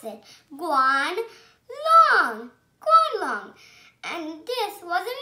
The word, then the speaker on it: Guanlong: I'm going to tell you how to pronounce it. Guanlong.